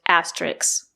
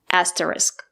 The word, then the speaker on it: asterisk: The word is not pronounced asterisk. There is no letter X at the end of the word. The two letters S and K make the sound, not S. The word is pronounced asterisk, not asterisk.